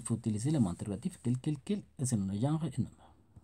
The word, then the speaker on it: quel: La pronunciación va a ser igual para todos, inclusive para el plural, quel.